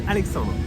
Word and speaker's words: Alexandre: My name is Alexandre. Alexandra. That's French pronunciation for Alexander, Alex, no in English.